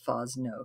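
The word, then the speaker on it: Fosnot: might have seen her name all right this pronounced fawz no kathy fosno um she's fabulous yup okay so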